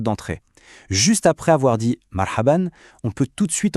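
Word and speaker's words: مرحبا: Ça se prononce marhaban. C'est un peu le bonjour ou salut le plus courant, le plus amical. On le dit ensemble marhaban.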